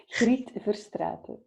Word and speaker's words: Griet Verstraete: Would you help me again with the pronunciation? Griet Verstraete.